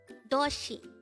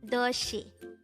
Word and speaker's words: 도시: word number 234 toshi this is pronounced as a two-syllable word the first syllable is do second syllable is she pronounce it with me doshi toshi for the last time doshi the word doshi is